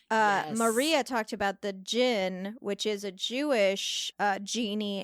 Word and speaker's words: cin: Turkey will include the Gin it is spelled c-i-n but pronounced like gin which basically people would